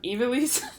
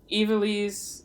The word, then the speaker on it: Ivalice: Don't do revisited multiple Ivalice. times. Yeah. I think I say it like Evilise.